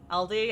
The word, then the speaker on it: Aldi: Aldi as in Allen.